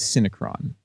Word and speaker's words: Synecron: you pronounce the uh CD the way I pronounced it is syncron um syon so yeah it's it's a it's